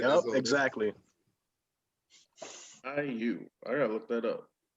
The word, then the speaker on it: Caillou: They did that with Lil Bill and made Caillou. You know what I'm saying? Yep, exactly. Caillou. I gotta look that up. Is it spelled like Ryu but with a K? No, it's French.